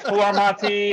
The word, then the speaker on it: Florimonte: No, Flormonte. It's spelled Florimonte.